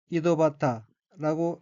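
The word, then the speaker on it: 井戸端: 다음 어휘는 한자가 정호단이고 일본어로는 이도바타라고 읽으며 이도바타는 우물가라는 뜻의 명사입니다. 여기서 맨 뒤에 한자는 끝단자로서 하나의 단어로 쓰일 때는 발음이 바타가 아닌 하타가 됩니다.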